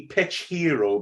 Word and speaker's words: Pitchero: you you say it it's supposed to be pitch hero but obviously it's not spelled like that because right it's like hitchhero and I think well